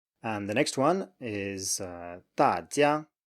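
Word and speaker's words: 大家: And the next one is 大家, 大家, 大家.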